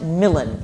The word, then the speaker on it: Milan: Which which is pronounced Milan in this play just because of the the scans.